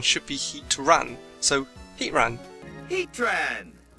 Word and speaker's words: Heatran: using the rule of Rose raid the correct pronunciation should be heat Ran So heat ran heat ran Heatran so this